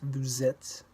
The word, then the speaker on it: vous êtes: In this sentence, the S from vous links to the beginning of it. Vous êtes.